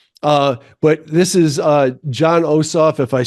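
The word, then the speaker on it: Jon Ossoff: on him somewhere uh but this is uh John osof if I say his name right um that's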